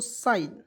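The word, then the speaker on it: sign: तो इसे पढ़ेंगे दोस्तों साइन एस आई जीी एन तो इसे पढ़ दोस्तों साइन पढ़ा जाएगा साइन साइ य प जी को हमें साइलेंट किया क्लियर एस आई जी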